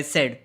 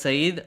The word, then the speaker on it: Said: Also, Edward said, pronounced Saeed, is a Palestinian scholar. Edward Saeed, okay, pronounced Saeed, thank you, is a Palestinian scholar who is attributed to study extensively on Orientalism.